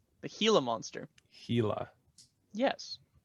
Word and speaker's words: Gila: And it's pronounced Gila, the Gila Monster. Gila.